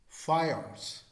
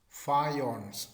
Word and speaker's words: faience: Faience. Faience. That is the pronunciation.